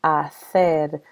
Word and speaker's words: hacer: In Spain, where Spanish was invented, this word would be pronounced hacer with a TH sound.